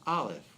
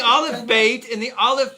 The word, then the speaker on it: Aleph: Now, in the Aleph Beit, I'm giving you a little mystical insight here. Aleph, because it's a silent letter, it is the highest,